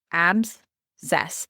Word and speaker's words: abscess: Absess, that's how you say it.